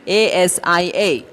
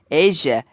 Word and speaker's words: Asia: The spelling is A-S-I-A. But the pronunciation is like A-I-S-A. That makes it Asia.